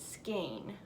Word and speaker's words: skein: um Diane Dugan says you pronounce it skein because my braid didn't remember how to say it or I didn't know how to say it so skein with a long a thank you I will